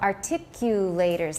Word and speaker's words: articulators: Because a lot of people don't know how to say this. They say articulators, or they say really funny things. So articulators. Listen to me say it a few times.